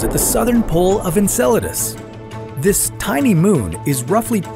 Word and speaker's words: Enceladus: alien life on Enceladus first of all it's pronounced Enceladus nut and coladas sorry muchacho Enceladus is Saturn's